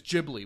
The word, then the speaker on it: Ghibli: You don't need to fucking live there to see that the way so- they pronounce it is Ghibli with a soft G.